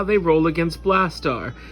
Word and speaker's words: Blastaar: knocked out first and i should mention it's not blaster spell it's not spelled blaster like the dude from the autobots it's like blast star with two a's at the end like brave star if you remember that